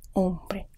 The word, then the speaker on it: hombre: like hinting means people h is a silent letter in espanol so for example this word is hombre not hombre ombre i is pronounced much